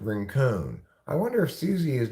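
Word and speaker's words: Rincon: like a Chinese Abraham Lincoln but it's not pronounced rink it's pronounced ranone I wonder if Susie is now Susie ranone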